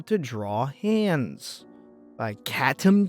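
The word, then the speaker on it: Catom: So this next tutorial is how to draw hands by Katum G. C A T O M. Like a cat. spelled like a cat, too.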